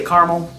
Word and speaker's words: caramel: This is just a kind of a sweeter caramel, like a caramel you would find on a caramel apple. I say caramel, some people say caramel. Caramel. Not caramel, you're missing a letter.